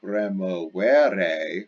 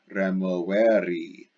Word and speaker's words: removeri: Notice it's not the present active, removere, with an E at the end, letter E. But the letter I pronounced E, removeri, to be moved back.